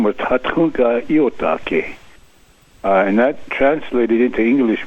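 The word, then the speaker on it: Tȟatȟáŋka Íyotake: Your great-grandfather was called Sitting Bull, but can you give us the actual Lakota pronunciation? His real name was Tatunka Iotake, and that translated into English means a buffalo bull who sits down.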